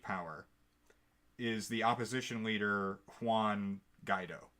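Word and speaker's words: Guaidó: is the opposition leader Quan guy dough I believe is the correct pronunciation so it was Hugo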